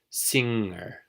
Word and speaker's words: singer: were to spell the word finger with true Filipino phonetics we would spell it f ing ger see how we use ng together as one consonant hmm pair that with the Gus ound and then you've gotten ger finger singer is just the ng singer singer okay the - when